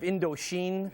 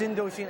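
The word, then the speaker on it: Indochine: Also, that permanently lowered self-esteem from the Harvard exit cashiers who correct your pronunciation of Indosin. It's Indoshin.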